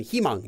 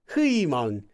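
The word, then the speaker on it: 희망: The common word, the most common word where he is used is in himang, meaning hope, but it's spelled like that. Hui, huimang. I mean, you could pronounce it as hui, but I've never once heard that before. It's he.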